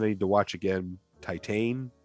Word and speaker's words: Titane: need to watch again titan i think is how you say it t-i-t-a-n-e i think i just rented this